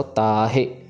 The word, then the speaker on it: ताहे: तते कन्ना ता लंबा ह से हारी हे छोटा है। सो ताहे पढ़ना है। ताहे नहीं पढ़ना। हे को मतलब लंबा नहीं खींचना इसमें बिल्कुल भी।